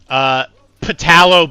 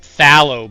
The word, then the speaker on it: phthalo: Patalo blue. That's not a word. Wilmar, you big idiot. It's pronounced phthalo blue. Look at him spelling phthalo blue with a P.